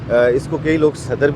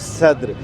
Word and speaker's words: Saddar: At this time I have come to Sadar, many people are interested in this. It is also said that actually the correct pronunciation is Sadr, so we have reached